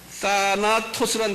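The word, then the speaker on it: θάνατος: 그 다음에 사망이라는 단어는요, 사나토스라는 단어인데요. TH라고 발음하면 사나토스.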